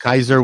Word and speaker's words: Kaiser: Like anyone who speaks a Germanic language, like myself, or Norwegian, our word for emperor is Kaiser, and that's the correct way to pronounce Kaiser Wilhelm.